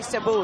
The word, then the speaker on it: Cebu: up it's a porous from both in the Cebu City is that how you pronounce it caribou is actually Cebu yeah it's about an hour flight from Manila